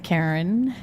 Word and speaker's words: Karin: But is that No, it's Karen. It's like, okay, it's like car in the garage, but there's A car in the garage.